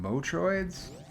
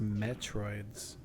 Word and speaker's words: Metroid: Motroids? I think it's pronounced Metroids.